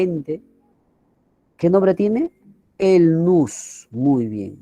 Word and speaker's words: nous: El nous. Muy bien, nous. Se pronuncia nous. Se escribe nous.